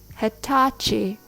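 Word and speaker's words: Hitachi: which is very nice Hatachi is a Japanese name pronounced with an American accent the Rhythm goes Tata Hatachi refrigerator thanks for listening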